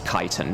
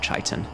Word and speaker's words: chitin: Yeah, White Wizard says it is chitin, not chitin.